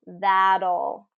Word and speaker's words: that'll: ending that's that'll battle so that T becomes a D right and tap T rule that'll that'll be all that'll